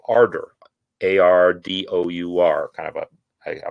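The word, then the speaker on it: Ardour: the one that i have installed is called ardor a-r-d-o-u-r kind of a i don't know seems british um just the o-u-r so um ardor is a a digital audio workstation or digital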